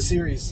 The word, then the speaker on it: series: Is that how you pronounce it? Series.